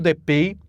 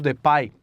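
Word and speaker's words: Depay: Eles concluíram que o gol do Depi, o gol do Depai, na verdade, assim que se pronuncia, ele deveria ter sido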